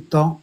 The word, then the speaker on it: temps: Voilà du temps, c'est toujours avec un S même si on le prononce pas.